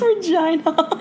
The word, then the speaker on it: Regina: And it's Regina. Again, all you did was giggle every time they said the word Regina. Well, it rhymes with go vagina.